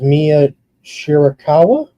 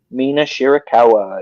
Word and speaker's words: Mina Shirakawa: Tony Storm versus Mia Shirakawa. Did I say her name right? Mina Shirakawa.